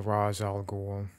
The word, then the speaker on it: Ra's al Ghul: Ra's al Ghul, or Ra's al Ghul, as it's apparently pronounced. Little is known of the early years of the nearly immortal Ra's al Ghul, whose name means the